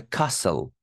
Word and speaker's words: castle: We saw the castle. T is silent here, guys. It's not castle.